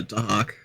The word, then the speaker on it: Dahak: How do you pronounce it? Yeah, Dahak.